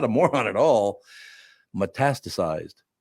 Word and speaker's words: metastasized: Metastasized. She could not say the word metastasized. She just metasasa, mestista. No, it's none of those.